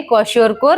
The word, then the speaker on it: kwashiorkor: Number दो marasmus हां नाम प्रोनाउंसिएशन के लिए डिफिकल्ट लग सकते हैं। फिर भी इसको कहना है कॉशरकोर और इसको कहना है मेरास्मस।